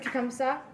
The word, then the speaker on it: Tecumseh: Tecumseh.